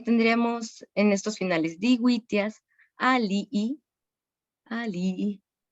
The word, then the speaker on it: alii: ejemplo, aquí tendríamos en estos finales digüitias, alii, alii.